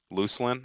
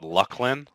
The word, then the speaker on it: Luclin: place where people could decide how things were pronounced. So, there's two moons, I've told you this, Druzel Row and Lucelin. I say Lucelin, but I've heard some of the developers call it Luclin.